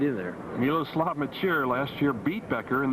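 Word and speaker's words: Miloslav Mečíř: how to pronounce his name in fact it's pronounced a lot of different ways but we say miloslav maer he is a wonderful player moves around very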